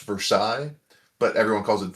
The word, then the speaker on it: Versailles: my town called it's it should be pronounced Versailles, but everyone calls it for sales.